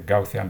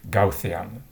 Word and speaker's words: Gaussian: so i read it gaussian in english speaking countries it's often pronounced gaussian but i believe it's not appropriate we should pronounce it as it is in the original uh country for example einstein was